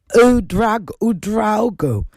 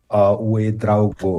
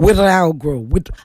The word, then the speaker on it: Ouedraogo: You did well, but it's Ouedraogo. Ouedraogo. I should know it's we.